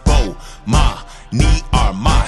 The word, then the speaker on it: Bomani Armah: announcements imma say my name so you can pronounce it oh ma me are my shout out to early visors I see who